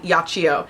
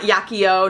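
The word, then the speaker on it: Yachiyo: Nars yio that is how you qu correctly pronounce the name of this brush it's called yio not yakio not yakido not yio not yiki yacho yio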